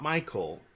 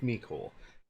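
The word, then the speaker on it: Mecole: and I've heard of I've heard of pronounced me Cole make-whole not Michael but I so I'm going with me Cole Hardman he is discounted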